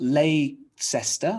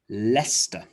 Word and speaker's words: Leicester: place names you will remember that c-e-s-t-e-r is pronounced st like gloucester bista so it's not lay sesta or lei kester lester and of course square this is a big